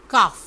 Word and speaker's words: calf: ये जो पहला वर्ड होगा वो है वॉट, WHAT, इसमें जो H है वो साइलेंट है। Next word is काफ, काफ, CALF, काफ।